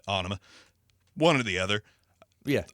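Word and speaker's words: Ænima: favorite track off uh i always pronounce it anime even though it's not what it's pronounced but anima one or the other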